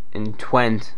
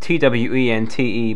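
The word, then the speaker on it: Twente: The most renowned one is located in Twent, that's what I'm going to call it. It's T-W-E-N-T-E, but I'm guessing it's pronounced Twent, not 20, but who knows, in the Netherlands.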